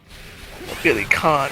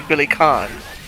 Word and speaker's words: Billy Kane: Billy Khan, as they call him. You know, it's spelled Kane. I mean, what do you expect? Yeah. But they say it. They do say it in all the dubs, and Billy- they say Billy Khan Mm-hmm.